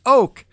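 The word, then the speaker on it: Oahk: This is Oak, but they spell it O-A-H-K, and the name of the track is Rusting Mulch.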